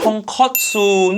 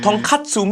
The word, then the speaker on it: tonkotsu: Pronounce wrong again. It's tonkotsu, not tonkatsu. Tonkatsu means something else.